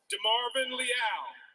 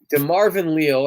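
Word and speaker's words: DeMarvin Leal: there nfl draft the pittsburgh steelers select de marvin liao defensive end texas a m so that's unfortunate that his name was mispronounced on draft day and i i do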